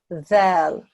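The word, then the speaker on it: ذال: And that's a dhal, and it's pronounced like you would do the English word they. So the tongue goes between the tips, the tip of your tongue goes through the front two teeth. Dhal.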